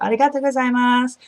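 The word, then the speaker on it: ありがとうございます: You say arigato gozaimasu.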